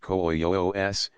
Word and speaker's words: quis: pronoun Nam sing Who quis pronounced Coos two syllables interrogative pronoun General sing